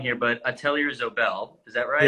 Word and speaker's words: Atelier Zobel: company as well, which is, and correct my pronunciation if I'm wrong here, but Atelier Zobel, is that Yeah, right?